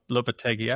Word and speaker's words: Lopetegui: So this is Julian Lopetegui. I always say his name wrong.